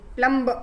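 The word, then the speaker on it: plumb: वैसे प्लम तो एम बोलते हैं हम, लेकिन प्लम्ब ब नहीं बोलते, इट इज साइलेंट.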